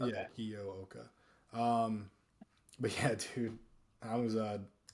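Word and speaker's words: Kiyooka: I thought it was Kiuka, but they were pronouncing it Kioa. Kioa. Okay. Yeah, Kioa.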